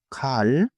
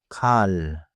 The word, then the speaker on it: 칼: light puffed tight important point do not add an extra vowel after the consonant 칼 is one syllable 칼 so not beats just one clean syllable 좋아요 also the